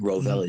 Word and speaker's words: Rovelli: Rovelli is my name. And we actually pronounce the LVX as light, the Gnostic Church of Light.